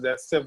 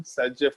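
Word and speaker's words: Zaitsev: But actual में इसका pronunciation जो है मतलब जैसेफ वाले पार्ट का प्रोनाउंसिएशन सैजेफ के जैसा होता है, थोड़ा रशियन टाइप का वर्ड है। तो ये जो वर्ड है जैसेफ इसका प्रोनाउंसिएशन सैजेफ होता है।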